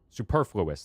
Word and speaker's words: superfluous: Uh superfluous. That's how you pronounce that word.